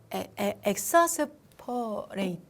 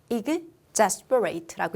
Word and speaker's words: exasperate: 이게 엑사스라면 여러분 이 단어는 엑삼이야? 이게 엑사스라고 여러분이 읽었다면 이건 엑삼이라고 읽어야 되는데 근데 이건 exam이라고 읽으실 거죠. 그러면 얘도 엑사스가 아니라 exasperate라고 읽어주셔야 됩니다.